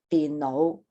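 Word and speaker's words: 電腦: We've got tone 6 first, your tin, and then tin no. Tin no. Tin no is a computer. And tin no, but if you mispronounce it for the 1st tone, tin no is going to be a crazy person.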